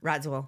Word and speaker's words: Radziwill: How do you pronounce that? Radziwill.